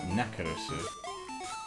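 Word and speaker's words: ナックルズ: little too close to Knuckles' Japanese pronunciation, which it would be Nakarusu.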